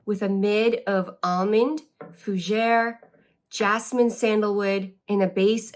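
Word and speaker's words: fougère: listed online yet and she was struggling with the word fuer and thought it said forra which now the way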